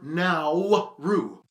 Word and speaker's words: Nauru: country in the world so now we cover now rue it's time to learn geography now hey everybody i'm your host barbs yes it's pronounced the pacific islands are always so fun